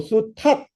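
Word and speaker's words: 수탉: 예를 들어 수닥이라는 발음보다 수탁이라는 발음이 훨씬 쉬워요.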